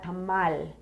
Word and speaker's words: tamal: used to put a Tamal you know which a tamale is a mixed tamale you would say tamale um yeah that e is silent you're right okay I'm